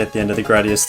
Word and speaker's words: Gradius: Turns out the proper pronunciation of Gradius is the way I'm saying it right now, and that weird way I was saying it before, Gradius, yeah, it's a lie.